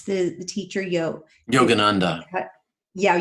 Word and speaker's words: Yogananda: his teachings how do you how do you pronounce the the teacher yo yogananda yeah yogananda yes yes just really briefly um from his